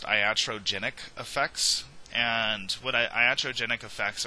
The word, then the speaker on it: iatrogenic: And as part of evaluation, one thing that we need to be aware of is this is pronounced iatrogenic effects.